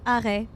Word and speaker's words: arrêt: Marche, arrêt. Working, stopping. Marche. On. Arrête. Off. You don't need to pronounce the T.